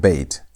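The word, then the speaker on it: ב: So when bet is having a dot, a dagesh inside it, you pronounce it as B. B sound. B as in boy. That's the pronunciation. The normal pronunciation of bet is only read like that when bet is having the dagesh, the dot. But when bet has no dagesh, pronunciation changes. Instead of saying B, you say V.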